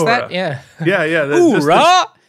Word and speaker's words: Uhura: Uhura! No yoo-hoo. It's ooh-hoo.